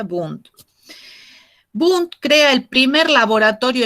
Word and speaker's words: Wundt: El otro autor es Wundt, se escribe W-N-D-T, Wundt, se pronuncia Wundt.